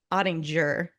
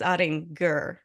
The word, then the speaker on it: Ottinger: on set together that your name is not pronounced adding jur it's adding G correct yes I did